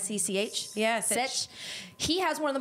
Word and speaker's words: Sech: I probably pronounced his name wrong. Is it Sech? It's like Sech. Yeah, Sech.